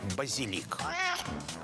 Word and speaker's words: базилик: из через французское посредничества во французском на последний слог базилик с ударением на последнем слове обратите внимание но в латинском то было базилик с ударением на 2 сейчас только базилик совсем